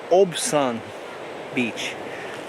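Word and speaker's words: Obyan Beach: Okay, I was just informed that the correct pronunciation is Obian Beach.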